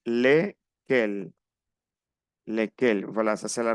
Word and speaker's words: lesquels: Bien, on prononce pas le S. Lesquels.